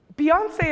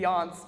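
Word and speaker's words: Beyoncé: test our stuff right beyonce is properly spelled with an e with a apostrophe on it or an accent on it otherwise it would be beyonce duh um and so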